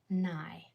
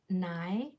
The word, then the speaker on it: nigh: Our sounds are N, I, nigh, nigh. The real world nigh is spelled with that IGH that we learned about on Wednesday.